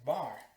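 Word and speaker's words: בַּר: Ese es el significado en hebreo de bar, así se pronuncia, bar, hijo.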